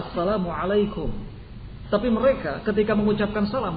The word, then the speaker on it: Assalamualaikum: e sering seperti itu misalnya saja kata Asalamualaikum mereka ganti dengan kata apa assamaikum coba kalimat yang benarnya adalah Assalamualaikum tapi mereka ketika mengucapkan salam bukan Assalamualaikum melainkan assam alaikum kebinasaan